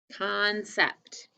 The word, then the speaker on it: concept: Concept. Check the time when you're ready. C-O-N is con, and the first C sounds like a K, and then C-E-P-T for sept. Concept.